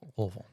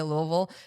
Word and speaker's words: Louisville: lot of other places, what brought you to Louisville? Oh, do you see how he Louisville? Louisville.